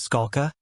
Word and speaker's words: Scala: the court said please state your name and spell it the witness said my name is Scala S A lka the court said you may inquire direct examination by Mr Fergenson good morning Mr skulla good afternoon good afternoon Mr Fergenson said your